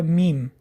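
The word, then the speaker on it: ميم: Следующая буква – это буква Мим. Мим произносят, смыкая обе губы с носовым призвуком.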